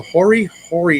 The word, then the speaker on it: hori hori: four well anyways um I'm gonna try and pronounce this correctly so hori hori knife h-o RI and this thing is actually